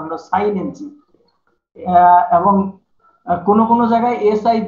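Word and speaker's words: chinensis: সিএইচ দিয়ে আমাদের দেশে উচ্চারণ কি হয়তো নরমালি আমাদের দেশে কি উচ্চারণ করে সিএইচ দিয়ে? বলো, কয়ের উচ্চারণ ক ক কাইনেনসিস হওয়ার কথা ছিল, কিন্তু আমি বলছি কিন্তু সাইনেনসিস।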